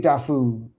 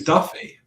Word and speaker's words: Daffue: I think it's I think it's Daffy. I think it's I I think it used to be Daffue and then it became Daffy.